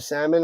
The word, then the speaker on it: salmon: It's fun when you catch a salmon or a trout. A salmon. Salmon. If you pronounce the hard L and salmon, people, you can do anything.